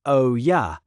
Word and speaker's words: olla: An Olla, pronounced O-ya, is an unglazed clay